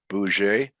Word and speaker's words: Bussiere: everyone uh francis uh let me see if i got your last name right or i butchered it boujee no sound okay all right like bus like yeah all right and uh